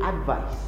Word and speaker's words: advice: like a z while for the noun it spells with a c that's usually pronounced like an S so an example of